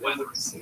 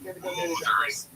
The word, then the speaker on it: Wuthering: Wuthering Heights. Not Weathering. Have I been saying Weathering? I thought I did an okay job of Wuthering. I believe it's pronounced Wuthering.